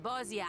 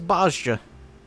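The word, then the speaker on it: Bozja: Ere long, provinces like Wurlit and Bosnia and many others That's how will it's pronounced. regain their freedom. This whole time I thought it was Bosja.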